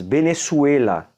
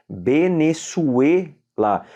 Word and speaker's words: Venezuela: na língua espanhola o país benessuela veja só escreve Venezuela mas se fala em espanhol benessuet lá veja que interessante o v tem som de b o z tem som como se fosse um c cedilha o e é fechado tá murcielo uma palavra da